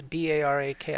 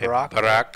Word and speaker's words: Barak: Former ex-prime minister Barak, is B-A-R-A-K. I forget how you pronounce that. Okay, Barak, I would think.